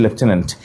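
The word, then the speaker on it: lieutenant: টেন and, this is লেফটেন্যান্ট। এবং একটা অদ্ভুত ব্যাপার খেয়াল করছো কিনা, লেফটেন্যান্ট বানানে কিন্তু এফ নাই।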